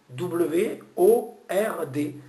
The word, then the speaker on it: word: Exemple, le mot mot, M-O-T en anglais, W-O-R-D. Ce O-R, c'est le même son que work. Un mot en anglais, on le dit word, word, on entend W-E-U-U-D. Le même son que work, work, word, c'est le même son.